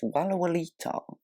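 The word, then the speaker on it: Walallawita: wicket that's the name and a half to pronounce i wouldn't like to be on cons for that one and it's walualita yeah it's not that bad uh sussex hampshire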